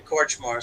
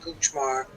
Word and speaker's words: Kortchmar: so there you go they couldn't pronounce my real name korchmar so it came out cuchmar and then cooch before